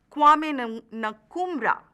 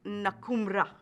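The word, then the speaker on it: Nkrumah: the president of Ghana kumra that is how we pronounce his name uh but in English you can also call it nakuma the president of Kanan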